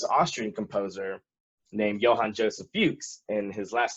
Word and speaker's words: Fux: talked about this Austrian composer named Johann Joseph Fuchs, and his last name is spelled just F-U-X with no accents or anything.